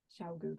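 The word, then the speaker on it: ChiaoGoo: Food, think of food. Chow. Chow. Chow. Chow goo. That's the only way I remember it.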